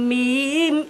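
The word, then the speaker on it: ميم: ঠোঁটের শুকন স্থান মিলিয়ে দুই ঠোটের শুকন স্থান মিলিয়ে যার উচ্চারণ করতে হয় যার উচ্চারণ করতে হয় এর নাম মিম এর নাম মিম এর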